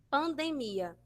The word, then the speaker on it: pandemia: necessariamente na primeira sílaba, como, por exemplo, a palavra pandemia. Pandemia. Em espanhol, nós vamos ter pandemia. Pandemia, certo? Vai ficar lá na sílaba do meio da palavra, percebe?